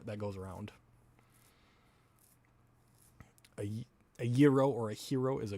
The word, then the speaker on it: gyro: Gyro is not how you pronounce the beagle. I know a gyro is spinning wheels. A euro is the Greek sandwich.